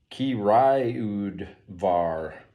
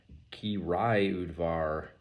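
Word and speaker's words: Királyudvar: on the back on how to pronounce it ki rayud var ki rai udvar so this is tokai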